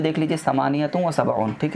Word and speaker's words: ثمانية وسبعون: देखिए उर्दू में प्रोनाउंसिएशन कैसे होगा 78 का 78। ठीक है, अरबिक में पढ़ेंगे समानियतुम व सबऊन।